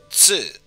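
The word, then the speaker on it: ツ: And the second exception, instead of Tu, it's Tsu, which adds an extra S sound and pronounced with less of an emphasis on the T portion.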